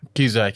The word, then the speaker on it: Cusack: Cusack, yeah.